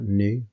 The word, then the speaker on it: nu: little letter here and this is the greek letter nu pronounced like that new that's as pronounced and that is where